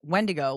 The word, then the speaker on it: Wendigo: It's Wendigo. Wendigo is the proper pronunciation.